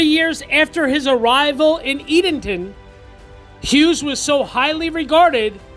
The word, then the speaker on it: Edenton: so I did actually research and look it up it is pronounced Edenton North Carolina so I was correct Edenton North Carolina also as always I'm going to